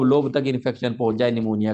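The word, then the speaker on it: pneumonia: Bronco निमोनिया बोलते हैं निमोनिया में निमोनिया में जो पी है पहले पी है इसको साइलेंट कर देते हैं इसको लिखते हैं लेकिन पढ़ते नहीं है ठीक है इंटर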